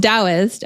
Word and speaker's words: Taoist: It's pronounced Taoist.